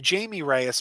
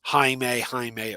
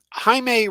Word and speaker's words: Jaime: But I still tend to call him Jamie Reyes because that's how we were introduced to him as Dan DiDio, the head of DC, always called him Jamie on panels.